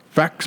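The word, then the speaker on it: Faxe: amber facts brewery Denmark so just pronounced facts I've never gonna pronounce that why I've augs seen it on the shelves but with the e I wasn't sure how to pronounce it facts thought maybe it was the X was silent fake yeah so I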